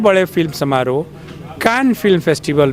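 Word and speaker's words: Cannes: कैन film festival में जिसको India में कांस कहते हैं लोग फ्रेंच में कैन बोलते हैं उसको क्योंकि फ्रेंच भाषा में कई शब्द साइलेंट होते हैं तो इंडियंस को अभी कैन बोलना नहीं आया तो वो कांस कहते हैं वहां उसके रेड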